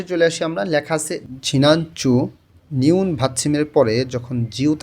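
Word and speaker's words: 지난주: আসি আমরা লেখা আছে ঝিনাঞ্চু নিউন ভাতমের পরে যখন জিউত আসে তখন ওই জ এর উচ্চারণটা অনেকটা চ এর মতন শোনা যায় উচ্চারণটা শোনা যাবে ঝিনাঞ্চু গত সপ্তাহ ইবনু এই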